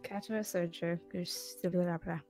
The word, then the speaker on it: Katawa Shoujo: figure out who was right on how you pronounce it. So. What do you mean? Good. Katawa Shoujo.